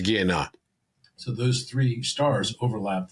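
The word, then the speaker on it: Gienah: They get overlapped also by seder and by ga ginya. I pronounced it wrong. It's guea.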